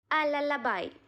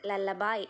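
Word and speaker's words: lullaby: അതിന്റെ ബാക്കി ഭാഗം നോക്കാം ലല്ലബായ് എന്നുള്ളതാണ് ഈ ഒരു സെക്ഷന്റെ പേര് ലല്ലബായ് എന്ന് പറഞ്ഞിട്ടുണ്ടെങ്കിൽ താരാട്ട് എന്നാണ് മീനിങ് ലല്ലബി എന്നല്ലട്ടോ അതിന്റെ ഉച്ചാരണം അല്ലെങ്കിൽ വരുന്നത് ലല്ലബായ് എന്നാണ് അത് കറക്റ്റ് കുട്ടികൾക്ക് പറഞ്ഞു കൊടുക്കാട്ടോ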